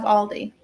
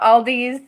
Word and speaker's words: Aldi: months I do love Aldi I always pronounced it with an S growing up I don't know why it just felt like I don't know Aldi's sounded better than just one Aldi that's like my mom